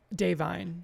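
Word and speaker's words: Da'Vine: Academy Award winner, Davine Joy Randolph. Also, how do you say her name? Davine.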